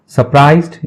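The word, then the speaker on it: surprised: market बाजार होता है सरप्राइज्ड इसमें रे साइलेंट होता है सरप्राइज आश्चर्य चकित ठीक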